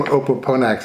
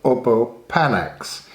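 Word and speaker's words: opopanax: perfumery fragrance material now the name opalponax is a little bit weird because um it's actually a sort of a mispronunciation of the name of a plant called oppo panax and panax is the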